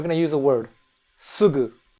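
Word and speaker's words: すぐ: Uh generally speaking, I think it's pronounced uh and we're going to use a word sugu. It's not the ooh sound in English.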